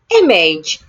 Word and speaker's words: image: The letter I in the word image sounds A. Image.